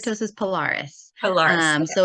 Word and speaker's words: keratosis pilaris: So Am I pronouncing that right? Keratosis pilaris. keratosis pilaris.